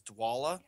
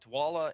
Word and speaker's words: Dwolla: working so the two that i selected was dwala which is spelled l d-w-o-l-l-a don't ask me what it stands for i have no idea um but dwala and spark rent and each of their websites